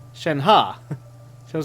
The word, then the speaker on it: Shenhe: She said Shen-Ha.